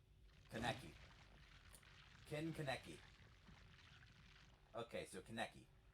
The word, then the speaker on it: Kaneki: We'll have a P1 Kanake. Or whatever his name is. I'm gonna look up how to pronounce these words actually. Kagune pronunciation. Pronunciation. Kagune. Kagune. Kagune. Okay. Kaneki pronunciation. Kaneki.